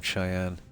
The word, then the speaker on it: Cheyenne: there's a jump not too far how's that pronounced guys cheyen isn't it yeah think pronoun Cheyenne okay yeah this is frear collective space hold